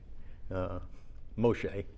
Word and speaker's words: Moshe: which Moshe, as it would be pronounced in Yeah, yeah.